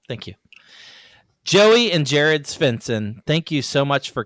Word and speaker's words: Svendsen: I want to I want to hear you try Spencson. Pretty good. Is it? Okay. Okay. Yeah. All right. Yeah. The D is silent, so just Okay. Cool. Thank you, Joey and Jared Spencson.